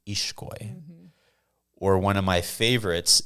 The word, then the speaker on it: Ixcoy: So the X in the Mayan languages or in a Guatemalan name actually makes the SH sound. So if you have the name that's spelled Ixcoy, people might pronounce it Ixcoy. Ixcoy? It's actually pronounced Ishkoy.